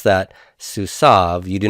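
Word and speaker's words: סוּסָיו: be su Sauve su saab and we do pronounce that su Sauve you do not pronounce the yoda yoda silent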